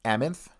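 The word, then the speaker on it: Amanthe: n t h e yes sir is that pronounced amonth yes sir amonth okay so this is amonth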